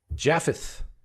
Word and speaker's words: Japheth: It is pronounced that way, right? Japh. Yeah, there are two ways, P or F, either way is fine. But the correct way is the way I said it, right? P, yeah, it's good.